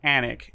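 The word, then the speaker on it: Alnwick: think that sounds called anwick but uh it has a castle called anik you don't pronounce the w for the castle but you do for the town um fix your names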